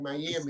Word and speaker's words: Miami: Yeah, the first time, like you said it like a Cuban. The second time you said it right, Miami.